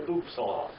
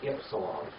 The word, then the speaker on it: ypsilon: The Germans, when they translate this, they call it an upsilon, but it's actually an ypsilon. Okay? So it's a Y sound.